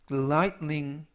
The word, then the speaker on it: lightning: 이번 표현은 lightning, lightning, lightning 이라고 발음하시면 되겠고요. 중간 부분에 있는 알파벳 T가 거의 발음이 나지 않습니다. 그래서 lightning이 아니라 lightning 이라고 발음하시면 좋겠고요. 그리고 GH는 묵음이라서 이번 단어에서는 발음이 되지 않습니다.